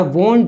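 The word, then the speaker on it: won't: Okay, I वोंट drink milk, वोंट drink, वोंट टी का जो टे है वो साइलेंट करिए, वोंट drink milk, I वोंट drink milk, ये एक्शन में नहीं करूँगा।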